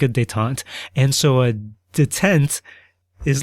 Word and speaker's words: détente: And a dant pronounced in the really American accented English that I've got.